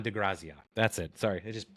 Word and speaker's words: De Grazia: passed recently and his name was uh don dezi I want to say that right but I've been up for so long I'm probably not saying it right graia d de graia that's it sorry it just popped in my